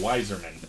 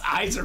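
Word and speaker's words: Yzerman: you didn't say that Eiserman that is clearly a why that is Eiserman wiser no it's Eiserman it could be silent zerman Steve zerman no it's Eiserman that doesn't make sense Bob will come at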